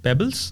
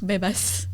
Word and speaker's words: Bebas: But yeah, Pebbles? Bebas. Bebas? Yeah. Spell it?